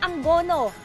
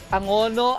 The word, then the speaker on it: Angono: lang ang banggit niyo kanina sa Angono is anggono may pagkakaiba po ba doon sa pagpapa pronounce ang Angono Actually Angono Angono isa lang naman siya pag t pag